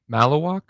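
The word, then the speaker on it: Maluach: Brian, how you pronounce the big dude name from Duke? Malawak.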